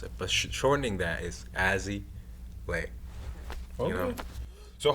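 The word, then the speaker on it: Azzy Lei: So like Leon, like it's like Lay and one put together, but it's like Leon. It kind of that's how I pronounce it.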